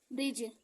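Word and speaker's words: bridge: ऐसे ही silent D, तो डी के बाद अगर जी आता है तो वहां का डी क्या होगा, हमेशा साइलेंट होगा। जैसे जज, एज, एज, ब्रिज, बजट, परिज।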